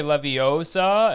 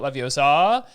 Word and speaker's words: Leviosa: for whatever, but you gotta just, you have to say Leviosa and not Leviosa, and you have to do the swish correctly.